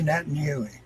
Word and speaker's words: Netanyahu: at the throne and I've been jamming Bibi Netanyahu and that's how you really pronounce his name in Hebrew it's netting you my name Huey there's some more and I have more videos